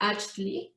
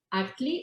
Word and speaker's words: Achtli: Actually, it is pronounced Achtli, but we know it's kind of difficult for someone and everybody's going to call it Achtli, so we don't have a problem with that.